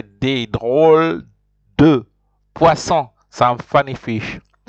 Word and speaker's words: drôles: Drôle is funny, des drôles. But you see, I don't even pronounce the E-S, I just pronounce D-R-O-L. So that's why I say des drôles de poissons, some funny fish.